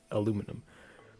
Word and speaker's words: aluminum: second aluminium aluminium like both ways of saying it are are correct it depends on on I guess her nationality because I was taught to pronounce it as aluminum but I often see many people talk pronouncing it as aluminium and then I say